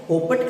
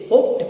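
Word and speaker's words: hoped: इसे आप क्या कहेगा, होपट कहिएगा। नहीं नहीं, इसे होपट न कहिए, इसे होप्ड कहिए।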